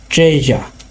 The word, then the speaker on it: treasures: আমরা যদি American pronunciation follow করি এটার উচ্চারণ হবে treasures, আর একটু বেশি এমফাসাইজ করতে হবে। বাট আমরা যদি ব্রিটিশ অ্যাকসেন্ট ফলো করি তাহলে হবে ট্রেজা, ট্রেজা। আমরা এখানে আরটা উচ্চারণ করব না।